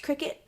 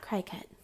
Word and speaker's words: Cricut: I'm going to write Cricut, C-R-I, and then this is pronounced Cricut, not Cricut. Cricut like the bug.